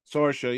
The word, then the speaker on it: Sorsha: Sorsha. Sorsha, yeah.